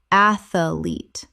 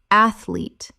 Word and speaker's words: athlete: Athlete. Correct pronunciation. Athlete. Two syllables only. The middle syllable does not exist.